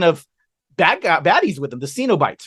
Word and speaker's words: Cenobites: And then just this legion of baddies with them, the Cenobites, right? That's what they pronounce it.